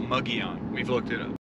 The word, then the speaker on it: Mogollon: to the mugion rim it looks like it's spelled Mongolian or mongolin but it's uh muggy on we've looked it up